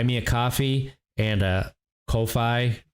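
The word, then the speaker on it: Ko-fi: a coffee and a kofi which is pronounced coffee uh if you that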